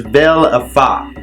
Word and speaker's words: Valefor: of valve 4 so Balfour is pronounced as Bell of BA okay a vampire necromantic